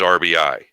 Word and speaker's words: RBI: But he's not he only had 84 RBI, which is not in the top 50 RBI in the National League. And while I'm on the topic of RBI, the plural of RBI is RBI, not RBIs.